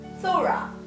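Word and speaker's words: θύρα: It's spelled Tura, but it's Thura.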